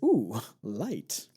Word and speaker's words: oolite: And wouldn't you know it, Oolite is oo light.